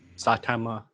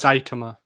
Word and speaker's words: Saitama: the next one's gonna be Satama, however you pronounce it, I forget. Spell it. Saitama. It's Saitama. That's what it is.